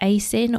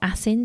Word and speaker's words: ASIN: The next one I'm going to talk about is ASIN or ASIN, depending how you say it.